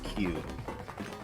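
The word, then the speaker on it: 九: lost in localization but the way you pronounce nine in Japanese is cute yes that's right because after that it's Jude 10.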